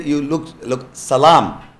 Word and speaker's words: salam: say you look look salam is arabic word it means peace salam so the same same words hebrew they pronounce this in their language it is shalom in arabic it is arabic it is salam so in the uh